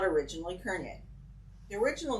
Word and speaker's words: Courneya: own family and it's in Ontario we pronounce it kernier I spell it c-o-u-r-n-e-y-a